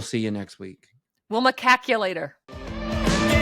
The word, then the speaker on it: macaque: from the monkeys because you got to say it right, Adam. Macaque. They have a name. It's Macaque. I think I'm putting the emphasis on the wrong syllable.